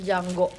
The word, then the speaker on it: Django: Terus kayak oh yaudah pas akhir-akhir aku baru Cuma harus nonton Django. The D is silent.